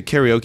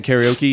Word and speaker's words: karaoke: no I didn't so in Japanese it's called karaoke and Kata means empty okay is actually short for orchestra so it means empty Orchestra in English we call it karaoke and uh so in